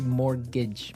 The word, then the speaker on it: mortgage: It has a t in it, but you don't pronounce it. You say mortgage.